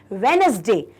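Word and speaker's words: Wednesday: डी ए Y student हम इसको लिखते हैं डब्लू ई डी लेकिन हम बोलते क्या हैं वेनसडे ओके क्योंकि जो हमारा डी है वो साइलेंट हम उसको कॉल करते हैं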